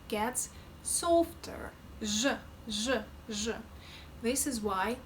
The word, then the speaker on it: Ж: What I'm feeling is that when I'm moving from z to zh, my tongue slightly moves back, just a couple of millimeters. Z, zh, z, zh. And I feel, again, when pronouncing zh, I feel that my tongue is getting closer to the palate, as if it's lifted a little.